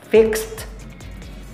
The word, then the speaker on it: fixed: magiging fixed mix magiging mixed. Napansin niyo nag-iba na naman ang sound ng letter D. Naging ano po? Letter T.